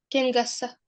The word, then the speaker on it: kengässä: Kengässä. Kengässä. Perfect. So NK changes to NG. So kengässä, kengässä. When you pronounce it, there is no G sound there.